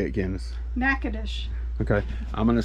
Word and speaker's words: Natchitoches: Natchitoches. Okay. I'm going to say Natchitoches. And then how do you say it, old Google thing? Natchitoches.